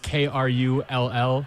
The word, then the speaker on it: Krull: Uh you spell it K R U L L, Krull.